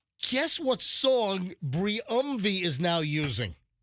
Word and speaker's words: Briumvi: Briumvi for MS. Guess what song Briumvi is now using.